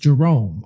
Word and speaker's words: Jeroen: Um, the individual, the person, his name, I believe, is pronounced Jerome.